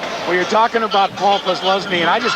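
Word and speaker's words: Posluszny: Jackaroo asked the Penn State linebacker, how do you pronounce your name, Paul? Kozluzny, that's real common.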